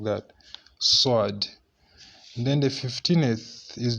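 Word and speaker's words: ص: We pronounce it like that, Sword.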